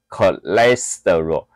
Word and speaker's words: cholesterol: e c i t h i n，背就是背，没了就是背，因为你没得选，你要读这个领域，你就是要背。好，再来胆固醇，这个是要背 cholesterol 啊、哦、，cholesterol 我尽量接近美国腔哈、哦，然后台湾腔有人念 cholesterol，然、哦、后那个。哎，我听过，我听过哈。好，cholesterol 那个这是美国腔哦，c c c h o 念 CH 念可的音，可的就那个音标是可的音，好 cholesterol，所以重音在 le cholesterol，好，ol 结尾，我们都知道这个是那个醛类，跟着是醇类的意思哦，所以它叫胆固醇啊，翻译谁翻译的我也不知道，OK，好，再来，我们讲单糖，单糖的话一样